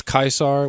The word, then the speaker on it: Caesar: people say it's like they'll pronounce it Julius kaisar which is how probably close to the actual pronunciation but then a guy